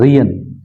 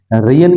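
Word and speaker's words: reign: में सबकी आवाज़ है, लेकिन रियन के अंदर ये एक साइलेंट है। रियन, रियन के अंदर देखें जी का यहाँ पे कोई आवाज़ नहीं आ रही, रियन मतलब साइलेंट है, ठीक है।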